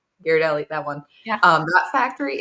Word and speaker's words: Ghirardelli: Well, the Gear, or is how it's pronounced, Ghirardelli? Ghirardelli, that one.